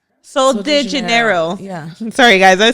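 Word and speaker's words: Sol de Janeiro: Soul Janeera. And they have like body sprays. They have like lotions. I said it right. Soul de Janeiro.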